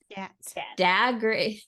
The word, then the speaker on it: Scott: The way that they say Scott it's spelled Skaat. Scat.